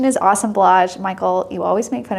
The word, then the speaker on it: assemblage: um and it's spelled assemblage but the correct pronunciation is awesome blage Michael you always make fun of me for